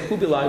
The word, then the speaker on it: Kublai: Yeah, I generally tend to say Kublai, which is the Mongolian pronunciation.